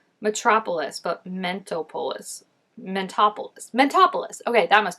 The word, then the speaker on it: Mentopolis: want to say it do not say Mentos Mento polis mentopolis right I feel like it's supposed to be like Metropolis but mentopolis mentopolis mentopolis okay that